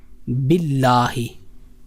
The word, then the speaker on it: باللہ: اب اس کے بعد کلمہ ہے باللہ. باللہ یہاں ایک بات سمجھنے کی ہے. باللہ یہ با ہے ایک حرف اور ایک حرف ہے میم. تو یہ با میم کی طرف نہ چلا جائے کیونکہ با اور میم